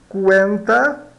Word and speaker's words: cuenta: CU dá KU. Cuenta, cuenta, cuenta, cuenta, conta.